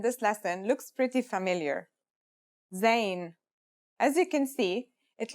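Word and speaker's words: ز: In terms of pronunciation, you say it just like the English z as in zebra or el jazer. Practice saying el jazer if you want to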